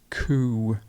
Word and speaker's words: coup: a coup a coup got a silent p we don't say the p so it's coo then we've got the